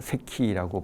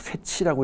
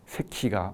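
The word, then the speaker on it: Secchi: 그래서 그 이탈리아 발음으로 세키라고 발음한다고 얘기를 했었죠. 미국 사람들 간혹 세치라고 읽는 사람도 있는데 세키가 맞는 겁니다.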